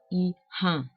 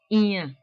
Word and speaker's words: iya: So there is a glottal stop there.